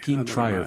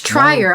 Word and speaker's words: Trier: Trier for sentimental value. European cinematographer. Oh, it's Trier. I've been saying Trier.